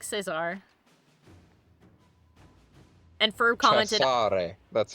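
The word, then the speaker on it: Cesare: Uh he's a lot like Chisare. Uh Ferb said you could you could call him Caesar. I'm just telling you in in Italy that's pronounced Chisare.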